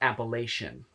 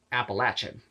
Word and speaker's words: Appalachian: folk and it's not it's not Appalachian that's how all the Yankee said it's Appalachian it's apple and then lachen I will never say